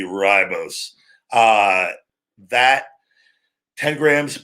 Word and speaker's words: ribose: be my r but it will be ry bose it's spelled ri but it'd be ribose uh that 10 grams